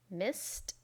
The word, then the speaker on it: missed: the pronunciation is watched watched watched miss becomes missed missed missed and finally wash is pronounced washed washed washed remember the spelling of